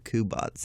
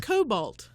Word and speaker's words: Kubat: You've been saying it wrong, but it's our first podcast. I'm not trying to judge here. My bad. Judgment-free zone until it happens. I'm so sorry. Kubat, Mr. Kubat, not Cobalt.